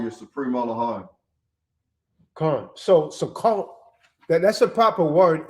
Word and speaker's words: Sukkot: in an s in english right so it's pronounced sukkot it's a code right so that's what the